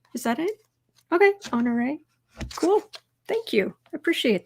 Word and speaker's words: Honoré: Kind of pronounced it with an A at the end. Oh, so it's like Honoré? Is that it? Okay, Honoré.